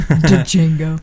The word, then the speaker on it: Django: d djingo D Django the D is silent Django she won for singing